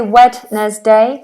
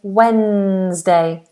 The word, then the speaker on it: Wednesday: pronounce is another word spell with um silent letters so we don't say wedes day we say Wednesday wday Wednesday Wednesday um a couple of